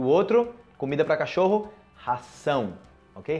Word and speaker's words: ração: E o outro, comida para cachorro, ração, ok? Ração, sa, z, sa. O primeiro, ok? Uma abelha, ok? Zão, razão. E o outro, ração.